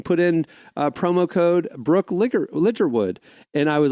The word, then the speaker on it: Ligertwood: And she was like, "And then just go and pre-order my album and put in promo code Brooke Ligerwood."